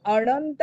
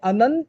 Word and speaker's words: अनंत: अनंत शब्द घ्या, न वर अनुस्वार आहे, पुढे त आलाय. त वर्ग तथ दध न, पाचवं अक्षर आहे न, म्हणून अनंत म्हणत नाही, अनंत म्हणत नाही, अनंत म्हणत नाही, अनंत म्हणतात. म्हणजे न वरच्या अनुस्वारचा उच्चारण अन आहे, अन.